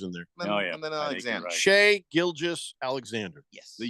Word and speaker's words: Shai: a nerd but like his name is Shay and yeah Shay not Shai so it's Shay Gilgamesh Alexander Gil Giles